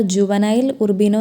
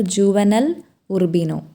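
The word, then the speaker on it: Juvenal Urbino: Sorry बच्चों, एक character का नाम मैंने रॉन्ग तरह से प्रोनाउंस किया। डॉक्टर जुवेनेल उर्बिनो नहीं है, सही उच्चारण यह है कि डॉक्टर जुवेनेल उर्बिनो।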